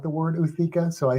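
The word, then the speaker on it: ootheca: Also, I don't know if I've said this on here, but a few weeks ago, I ordered off Amazon 2 praying mantis uthikas.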